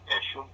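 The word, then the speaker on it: Eshom: How do you say it? Eshum. E-S-H-O-M.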